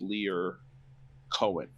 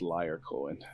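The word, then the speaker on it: Lyor Cohen: by the name of leer cohen it's it's it's easy to pronounce his name as liar cohen it's like a running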